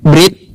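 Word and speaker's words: ברית: Dalam bahasa Ibrani, Brit ya atau bris dalam pengucapan klasik berarti perjanjian dan milah berarti sunat.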